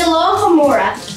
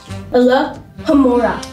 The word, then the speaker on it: Alohomora: It's Alohomora. You gotta pronounce it right. Yeah. Alohomora. Alohomora.